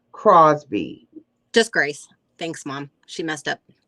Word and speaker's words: Grace: So it's Gracie Crosby. Just Grace. Thanks, Mom. She messed up. Oh, so what? So it's spelled right, but it's pronounced just Grace.